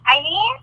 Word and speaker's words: Hailin: My parents are from Mexico, and so in Spanish the H is silent, and they spelled it the way that they thought it to be spelled. So they spelled it Hailin. So whenever it's funny because whenever I'm across the border or anywhere like where they only speak Spanish, they're like Eileen, and I'm like, oh my gosh, they said it right.